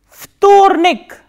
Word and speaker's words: вторник: V, T, O, R, N, E, K. And as you can see here, there is again voiced and voiceless consonant coming together. V and T. That is why V is pronounced as F.